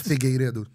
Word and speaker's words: Figueiredo: It's Figueiredo.